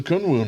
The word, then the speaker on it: Kunwu: and welcome to the channel this is a kunwoo knife in fact that's how you pronounce the uh the company name this is